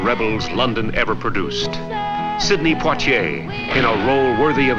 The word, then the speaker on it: Poitier: Poitier. Poitier.